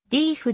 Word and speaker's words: Deaf: たものだったデフの発音はスミス自身が呼ばれていたように正しくはリーフであるがグンミンの大半はデフと発音しているデフ酢味噌軍